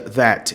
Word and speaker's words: that: E a maioria dos T's ele corta no final das palavras com a palavra that. Então ele não pronuncia that, ele pronuncia that.